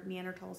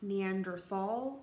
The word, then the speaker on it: Neanderthal: not Neanderthal you sometimes you'll see it written with th or with T it doesn't matter it still pronounced the same way each time Neanderthal Neanderthal not Neanderthal